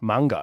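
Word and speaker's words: Mungo: M U N G O. Mango. It sounds like Mung Bean. Yeah, but it also sounds like something more derogatory. named after a place called Mango uh in Mango Bush, I think, in Northern Territory.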